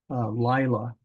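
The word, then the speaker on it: לילה: same P yod me Lila this Pak yod is Li I it's Li Lila Laya is night we looked up Lila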